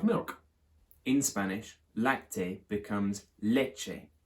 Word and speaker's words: leche: In Spanish, lacte becomes leche. The CT changes to a CH. Quite a hard CH sound like in macho or our word such.